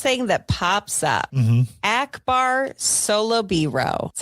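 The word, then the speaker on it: Akbar Salubiro: Akbar Solobiro.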